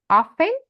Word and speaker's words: often: sometimes let's read first often often T is silent often some times sometimes